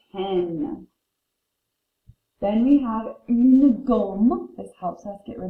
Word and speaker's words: gomme: Gomme is like the word for home. I'm going home. But you replace it with a G.